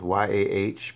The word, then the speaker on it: Yah: It's pronounced, the name of God is, or the name of Elohim is Yah, spelled Y-A-H, pronounced Y-A-H, Yah.